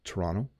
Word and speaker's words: Toronto: know how to pronounce this you might say Toronto I I'm going to go to Toronto but we actually say Toronto Toronto Toronto so you notice that the second T does